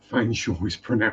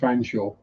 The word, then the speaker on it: Fanshawe: And you don't want to know how Fanshawe is spelled. That's not Fanshaw. I will type the spelling for Fanshawe in chat. That's pronounced Fanshawe.